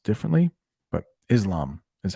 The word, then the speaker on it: Islam: hear most people say Islam. Islam. That might be the English pronunciation. That's the way most people say it here, but maybe in a different language, it's pronounced differently. But Islam is how we say it.